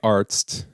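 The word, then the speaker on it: Arzt: a male doctor in German you would say artst but for a female doctor you would say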